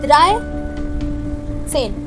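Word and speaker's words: dreizehn: You have written in the correct manner, but you will pronounce it in an opposite manner. So, drei, zehn.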